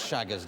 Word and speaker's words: Chagas: How are you spelling this Chagas disease? No, that's a good question. Yeah, how you spell it?